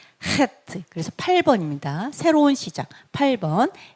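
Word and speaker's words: חית: 그다음에 헤트 헤트 목구멍 소리가 나야 돼요. 네, 그래서 헤트. 그래서 8번입니다. 새로운 시작. 8번. H 발음. 헤트.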